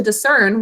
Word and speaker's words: discern: Discern, 2 syllables. First syllable, d, basic code. Next syllable, s, n, 3 sounds.